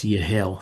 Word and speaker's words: Yehiel: the same name, and he pronounces his Yehiel, so that H has a k sound, and they go to that second vowel versus the first, which is how we get that Yehiel. So I pronounce it as Yehiel.